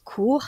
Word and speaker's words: court: confondre non plus avec un autre mot qui a la même prononciation mais qui a un t final court c'est l'adjectif adjectif qui